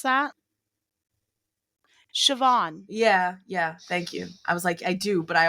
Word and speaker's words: Siobhan: You ever see that name that looks like Seopan? It's like s I Yeah. Do you know how to pronounce that? Siobhan.